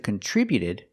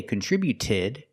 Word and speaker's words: contributed: We see with contributed the t before the ed is between vowels. So it's a fast d. We don't say contributed. We say contributed.